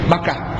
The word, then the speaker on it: Makkah: terlalu serius bibak kata mungkin dulu memang namanya bakah tapi lama-lama orang kemudian melafalkannya sebagai makah sebab mim dan ba itu dekat dalam pengucapan Arab Dia ee letaknya di dalam ilmu tajwid juga pengucapan di lidah kita itu mim dan ba Ini huruf-huruf yang dekat jadi bakah dan Makkah itu adalah sesuatu yang tidak berbeda mubarakan yang kami berkahi